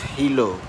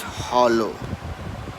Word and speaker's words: hollow: And second was, you said a sentence about victory where you said without honor the victory is hilo. You will not say that. You will say without honor victory is hollow.